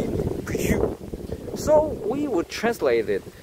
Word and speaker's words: Peugeot: It is not comes from the English pronunciation. It comes from the French. Actually, the Peugeot, when we talk about a Peugeot in French, will be Peugeot.